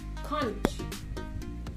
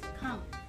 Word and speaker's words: conch: Conch. Hindi. May chance pa ba ako? May chance ka ba? Cut. Last chance. Con. Mm-hmm. Winner. Ang word? Okay. Correct pronunciation is naman? Conk.